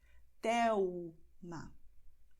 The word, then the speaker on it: Thelma: no fim da palavra, ou Thelma, porque a letra L está no fim da sílaba. E depois vem uma consoante. Thelma, é como nós pronunciamos.